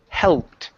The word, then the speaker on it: helped: next word here is the word helped pronounce that L right there in the middle instead of helped helped it's hell helped helped helped good good